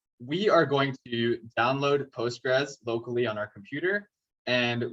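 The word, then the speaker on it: PostgreSQL: using the database called postgres sql it's a very weird string to pronounce um people generally call it postgres but this is a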